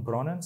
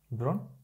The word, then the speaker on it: Bron: It's how do we pronounce it? Bronnen, something like this? No. Bron.